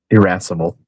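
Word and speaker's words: irascible: Irrassible.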